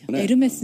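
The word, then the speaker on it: Hermès: 이렇게 쭉 발언이 않는다고 요금 이에요 h 가 발음이 안 되니까 우리가 업로드 홈 라고 하잖아요 무게 프랑스 남부 들으면서 에르메스 는 고유 브랜드 그리고 그리스 신화 중의 한명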